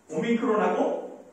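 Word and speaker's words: omicron: 그런데 이 둘 다 오발음인데 오미크론하고 오메가의 차이는 뭐냐면 이렇게 되어 있는 거예요. 예. 오미크론. 오가 작은 거예요. 오메가는 뭐예요? 오가 큰 거죠. 그래서 이거 발음할 때 똑같은 오인데 하나는 단모음으로 하나는 장모음으로 오미크론, 오메가가 되는 거죠.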